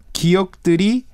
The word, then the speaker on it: 기억: 기억들이 생각나. 기억들이 생각. 기억 is like a memory, right? Yes, 기억 is memory. It also has the same pronunciation as the first character of Hangul.